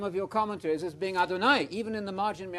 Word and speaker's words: Adonai: You know Adonai, it rhymes with El Shaddai, El Shad.